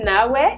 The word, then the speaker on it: Nawé: Eh ben, Nawé, qui se prononce en réalité Nawé, ça veut dire femme en Fongbe, qui est un dialecte du Bénin.